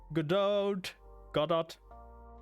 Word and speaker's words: Godot: hit am good God Godot I don't know everyone pronounce it differently I guess I say godo like a non-french German would say okay I look like